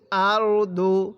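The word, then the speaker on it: أَرْضُ: আর দ পেশ দু আরদু কিভাবে পড়বো আরদু এটা দকে দদের মত করে উচ্চারণ করতে হবে তাহলে ওয়া আখ রজাতিল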